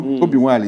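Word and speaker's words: Obi Wali: You know, Obiwale is the actual pronunciation. Okay. You know, Wale. That is, Wale means Nwale. the son of the soil. So they remove They N. remove the N, you know, to say Wale, you understand?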